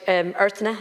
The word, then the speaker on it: Earthna: Earthna, is that the way you pronounce it? Earthna, yeah, because there's everyone's.